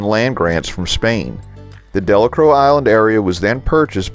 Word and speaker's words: Delacroix: We reach the community of Delacroix, and yes, that's how it's pronounced by the locals, despite how Bob Dylan pronounced it in one of his famous songs.